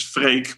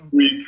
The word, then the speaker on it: Freek: So for Dusk Till Dawn, and then Ferreck is just a different way of saying my real name, which is Freek, but English people can't pronounce it properly. You guys are Freak or something, so I had to come up with something.